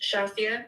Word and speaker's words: Shazia: So it's pronounced Shazia, but it's okay, you can call me Shaz if that's easier.